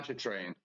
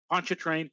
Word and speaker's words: Pontchartrain: And for Lake Pontchartrain, is that, am I Lake pronouncing that correctly? Pontchartrain. Pontchartrain.